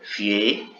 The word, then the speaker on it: fier: Aquí si pronunciamos la ER al final, fier, fier.